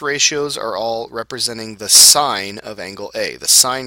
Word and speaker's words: sine: first one is pronounced sign okay it's pronounced like the word SI i g n sign all right but we